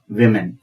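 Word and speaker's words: women: ओ एम ए एन वुमन इसका plural होगा मेमन उच्चारण में तो मेमन आ रहा है पर इसका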